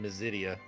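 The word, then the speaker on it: Mysidia: how to pronounce it i would say i've always said mesidia obviously like my my city not your city it's my city i'm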